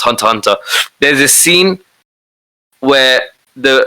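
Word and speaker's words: Hunter × Hunter: to be hunter hunter people call it hunter x hunter but supposed to be pronounced hunter hunter there's a scene where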